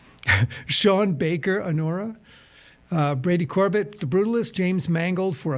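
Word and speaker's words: Corbet: Brady Corb cor corat how you pronounced his last name Corb and like sorbet cor you're probably going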